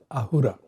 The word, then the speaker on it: Ahura: So in Zoroastrianism, the word Asura is pronounced as Ahura.